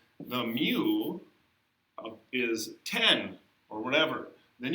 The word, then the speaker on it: mu: but mu okay it's a u call it mu all right um this is the population mean mu pronounced i don't know it's the population mean